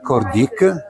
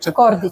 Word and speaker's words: Kordić: Kordić is your name. Kordić. As good pronunciation, is it? Kordić.